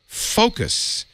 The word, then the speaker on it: Focos: In fact, frankly, I was distracted for the rest of the show because I couldn't stop playing with Focos.